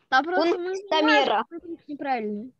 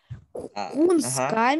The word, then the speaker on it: Кунсткамера: Он сказал Кунсткамера. Просто ударение неправильно поставил. Он не Кунсткамера. Он Кунсткамера. Кунсткамера?